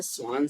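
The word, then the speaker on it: Schwann: Option A है स्वान cells, यहाँ पे सी एस साइलेंट है ना, तो इसलिए इसको क्या बोलते हैं, स्वान सेल, स्वान सेल।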